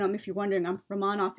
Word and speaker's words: Romanov: if you're wondering um rahmanoff is the proper russian pronunciation i know many english-speaking people say i'm roman off but that's actually not